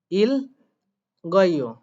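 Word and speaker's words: 읽고: তাহলে এখানে কি হচ্ছে যেহেতু গিউটা ওঠার পজিশন আছে তাই রিউলটা উচ্চারণ করতে হবে আর গিউকে উপরে তুলে উচ্চারণ করতে হবে ইল গয় অন্যথায় গন্ধ গিউটার উচ্চারণ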